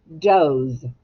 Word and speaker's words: doze: Now, if you just have the word like that, it would be a short vowel, Oz. But you put the E on the end, and now we have the word doze.